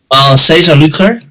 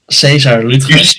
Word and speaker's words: Lüttger: I said your surname wrong. It's Lüttger. Now, how do you say it, man? César Lüttger. César Lüttger.